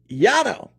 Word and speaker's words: Llano: Must-stop spot, Cooper's Barbecue in Llano. I think they actually call it Llano, but it's spelled Llano. I'm going to say it Llano.